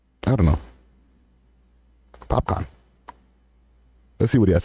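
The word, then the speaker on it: Popcaan: okay here we go it's funny when people don't know how to pronounce his name and they're like i can because it kind of spells out like pop can right this with two a's and then somebody has to correct them popcorn they look at the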